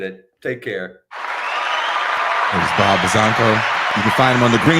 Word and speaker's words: Buzzanco: Is it Buzzanco? Yeah. It's actually the correct way to say it.